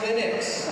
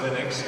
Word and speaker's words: Linux: How do you pronounce Linux? Well, I pronounce Linux as Linux. However, the total answer to that is, if you are Linus Torvalds, you probably pronounce it as Linux.